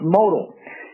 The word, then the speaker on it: modal: Modal is pronounced modal.